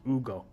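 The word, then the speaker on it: Hugo: It's Ugo. Ugo. So the H is the H is silent.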